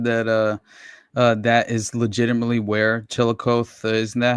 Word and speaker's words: Chillicothe: You know, they said that that is legitimately where Chillicothe, isn't that how it's pronounced? Chillicothe? Chillicothe, sir.